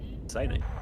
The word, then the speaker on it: Sinai: As we kick off into the match here on Sinai, as I learned how it's correctly pronounced last weekend. Sinai.